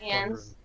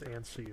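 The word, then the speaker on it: Anse: Yeah, I think ants is the best way for us to deal with it. I don't think it's antsy or anything. It's definitely not ons.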